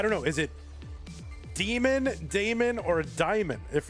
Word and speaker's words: Daemon: A E seems to be Damon. Demon. Diamond. I don't know. So, I guess we're going to have to It's like Matt Damon. All right. It's Damon. The canonical pronunciation of that is Damon.